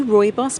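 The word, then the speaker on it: rooibos: before so can you tell people how to spell it because it looks different different than it's yes we say Roy boss but it's uh R double o i b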